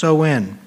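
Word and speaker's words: Samhain: back to the ancient celt Celtic Festival of sowin sowin is actually spelled Sam Hayne sa MH a i n but it's pronounced soen the Kelts who lived 2,000 years ago in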